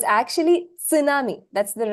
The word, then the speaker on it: tsunami: s so it's actually tsunami that's the right pronunciation that is the Japanese pronunciation tsunami the t is not silent you have to pronounce it sure hi all right